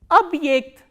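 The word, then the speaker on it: объект: And this ye is pronounced as the combination of these two sounds, e kratke and a.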